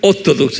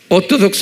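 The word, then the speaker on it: Orthodox: 그래서 그냥 오토독스, 이것을 한국말로 말하면 정통. 오토독스 한번 발음해 보세요. 오토독스. 액센트가 있어요. 오토독스 그래야 돼. 예, 오토독스 그러면 안 돼. 그럼 못 알아들어요. 오토독스 그래야 돼요.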